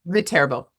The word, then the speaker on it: Viterbo: Verbo.